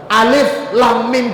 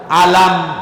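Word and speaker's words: الم: ya Rasulullah bacanya begitu di ayat lain ada huruf yang sama alamaluka biil hurufnya sama tapi kita enggak bacanya Alif lamam yang di sini kita baca Alif Lam Mim dalikal kitabula begitu Rasulullah ngajarin kita kita enggak baca alam dalikal kitabu laba Fi tapi kan memang tulisannya beda Gus kalau yang alif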